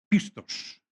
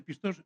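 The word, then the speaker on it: πιστός: Uno es el discípulo pistos, o pistos, depende de quién. Si es del griego antiguo, es pistos. Los modernos le llaman pistos.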